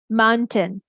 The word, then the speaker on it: mountain: Most of the time it's a mountain mountain mountain, right?